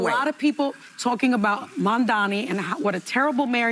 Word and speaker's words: Mamdani: I got stomach poisoning trying to take a shot every time someone says Mamdani's last name wrong. You mean Mamdani? Mambabi. Mamdupada. Mandandi.